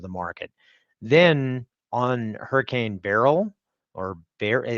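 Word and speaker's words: Beryl: demand side of the market then on Hurricane Barrel or bar how did you pronounce it Bill Burl like Burl eyeses but that's B that that's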